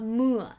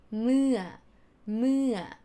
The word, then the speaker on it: เมื่อ: lips together like this, not เมื่อ but try to smile เมื่อ no, like use the tension here เมื่อ sound เนาะ เมื่อ นะคะ and last one ค่ะ or sound.